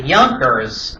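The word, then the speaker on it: Junker: German the J is pronounced as a Y. The Yers uh they're very powerful.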